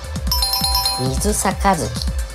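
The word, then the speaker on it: 水杯: 正解は水杯。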